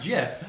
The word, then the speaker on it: GIF: is it Jif or gif Jeff I don't appreciate ya second time getting the guy who made the thing said that it's pronounced jiff yeah a website that